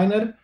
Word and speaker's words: niner: I właśnie to nine również jest przerobione na niner, żeby było śmieszniej, jest for, który jest fower, ale tego się właściwie nie używa. Zresztą od niner się w sumie też